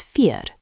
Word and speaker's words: vier: Four is vier, four. Sounds like feer.